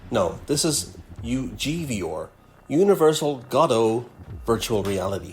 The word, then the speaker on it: Godot: Universal Godot Virtual Reality. Godot. That's right, Ed. Godot, not Godot, Godot.